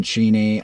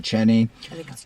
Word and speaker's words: Cheney: with the DNA of Don Cheney um or Cheney um it does not a like Dick Cheney c-h-e-n-e-y that's the only reason I know how to pronounce it I don't even know